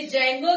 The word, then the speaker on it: Django: हो रही होगी इंस्टॉल बोल बोल के जंगो ही मत लिख दीजिएगा साइलेंट होता है।